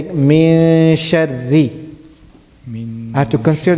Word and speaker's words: من شر: Not min, I'm not pronouncing the noon. I'm saying min sharri. min sharri. Min sharri. Min sharri. Not sharri, not heavy, but light.